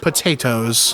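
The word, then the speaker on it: Pot-8-Os: He is best known for the unusual spelling of his name, pronounced potatoes.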